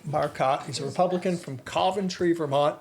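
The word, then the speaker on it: Coventry: he's a republican from centry Vermont if you pronounce it cantry he will correct you it's centry and uh um and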